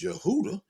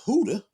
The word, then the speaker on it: Yehuda: I've been teaching that Judah is pronounced by the Jewish people as Yehuda is pronounced by the Spanish people as Huda. And then it's also pronounced by the people in the transatlantic slave trade as Huda.